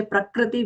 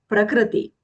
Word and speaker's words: Prakriti: The kr there is not a joint consonant. It's a combination of the consonant k with r, a vowel. So it is not a joint consonant. So that's a commonly mispronounced word. We tend to say Prakriti whenever we see that as a joint consonant. We have to avoid that. It is not a joint consonant. So Prakriti.